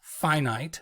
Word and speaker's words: finite: students have not encountered the opposite of that word which is pronounced finite which just means not infinite so getting one solution